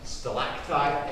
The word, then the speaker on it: stalactite: And a lot of people will pronounce them with both with a G, but it is stalac on the top and stalag on the bottom.